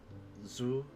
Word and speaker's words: ず: ず Zu, I pronounce Zu, or write Su as normal, And then add dakuten to change it to zu.